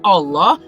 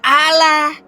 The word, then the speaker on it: Allah: Kalaunya kosakata bahasa aslinya Allah jangan kau ubah Allah. Udah betul bahasa Arabnya Allah. Lalu kalian ubah Alah.